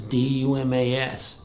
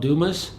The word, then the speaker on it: Dumas: always heard it called Dumas that's how it's pronounced in the United States we actually had a